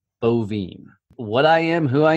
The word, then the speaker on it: Boivin: your last name so last name is pronounced ovum what I am Who